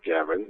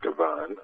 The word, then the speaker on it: Gavan: It's Gavan, not Gavan. I was going with the French-Canadian instead of the Irish-Canadian pronunciation.